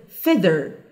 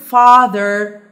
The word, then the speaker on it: feather: like this the thth feather fether like don't confuse the word feather with the word father father okay this father